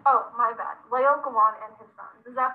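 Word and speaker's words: Laocoön: For our project, we did Lackawan and his sons. No, Megan, it's actually pronounced Laocoon. Oh, my bad. Laocoon and his sons.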